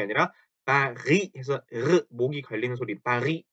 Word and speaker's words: Paris: 그래서 파리라고 하니까 사람들이 빠히도 아니고 빠리도 아니고 그렇게 중간쯤이 들린다고 말씀들을 하세요. 그래서 이것도 Paris 혹은 파리, 파르, 파리 요렇게 읽습니다. 파리, France, 파리 요렇게. 그렇게 R 발음을 R 발음이죠.